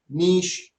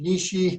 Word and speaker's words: niche: niche marketing make sure you might hear niche niche niche nish right so everybody kind of pronounce it a little bit different but that's what a